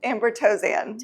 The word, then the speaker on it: Amber Tozan: How do you say it? Amber Tozan. Tozan. Yeah. Amber Tozan.